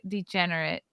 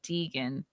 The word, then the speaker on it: Degen: be a long-term s my name is broke degenerate degenerate like Gambler not a queer named Degan uh okay I said